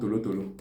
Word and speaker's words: tolotolo: Then in Igbo is called Tolotolo or Torotoro, depending on the part of the Igbo line.